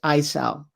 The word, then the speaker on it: ISAO: is a department of uh homeland security recognized isal that's spelled isao standing for information sharing analysis organization